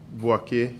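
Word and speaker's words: Boakye: How do you spell that? B-O-A-K-Y-E. Boake.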